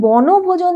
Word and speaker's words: বনভোজন: হ্যাঁ, কথাটা ব নো ভোজন, তাহলে আমরা উচ্চারণটা কি করছি, ব নো ভোজন, ব নো ভো, তারপরে জন, জনটা একসাথে উচ্চারণ হচ্ছে ব নো ভো, এই তিনটে হচ্ছে মুক্ত, তারপরে চার হচ্ছে জন রুদ্ধ।